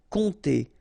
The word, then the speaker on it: compter: 50 € compte sur remember this not pronounced and m give nasal on compter Compter sur pleurer.